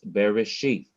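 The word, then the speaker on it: בראשית: bearish sheet very sheath i'm not rushing i i'm now coming to the last syllable very sheath i've rushed through the first two syllables these are two and this is the third syllable sheath very sheath wherever i see an accent i must slow down and i must emphasize that syllable so this is bereshith this other word notice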